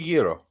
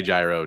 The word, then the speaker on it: gyro: to say it wrong no it's supposed to be a Euro okay okay but you know yeah a lot of people do say gyro too I mean I know